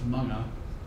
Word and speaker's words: mga: This MGA is pronounced manga.